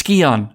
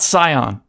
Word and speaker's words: Scion: word he doesn't understand but he's right it's skeon not scion so shame on me